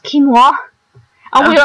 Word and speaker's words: quinoa: For some rice, I think it's basically how we pronounce quinoa, but apparently it's pronounced quinoa.